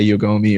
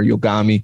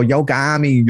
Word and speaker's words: Yogomi: also say yoga like a lot of science psychotics friends when i go into the chat they go yogami like they say it like that so they come in the